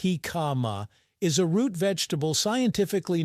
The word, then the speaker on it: jicama: He kama, pronounced hikama, is a root vegetable scientifically known as packeris erosis.